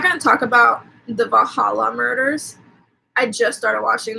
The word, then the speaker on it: Valhalla: gonna talk about the Valhalla murders I just started watching that and it is pronounced bahala that's how they say it in the thing so I'm actually kind